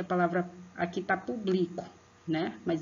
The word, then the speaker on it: público: Agora, pronuncia a palavra, aqui tá público, né? Mas é público. Pronuncia aí, vejam qual a sílaba que vocês põem mais força. Qual é? Público. É o pu. O acento agudo na vogal U, né?